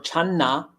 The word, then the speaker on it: Chan: Chinese word chan or Chana which is a Chinese pronunciation ancient Chinese pronun maybe we're not really sure exactly how the ancient Chinese were pronouncing it but modern Mandarin that's how you pronounce it Chan but in any